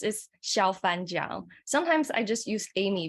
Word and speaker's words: Xiaofan Jiang: My name, which is a little bit hard to pronounce, is Xiaofan Jiang.